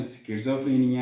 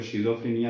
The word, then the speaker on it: schizophrenia: इसकी असल pronunciation स्किज़ोफ्रेनिया है, लेकिन माशरा और सोसाइटी हमारी इसको शिज़ोफ्रेनिया समझती है, तो हम इसको यही प्रोनाउंस करते हैं।